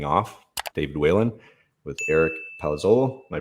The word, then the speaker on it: Palazzolo: um i'm signing off david whalen with eric palazzolo am i pronouncing that correct yeah you got it that's